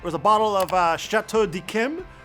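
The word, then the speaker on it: Château d'Yquem: It was a bottle of uh Chateau de Kim, which I know is pronounced that way because I saw it on a YouTube video pronounced that way.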